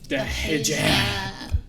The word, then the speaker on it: hijab: can help me with the pronunciation. The hijab.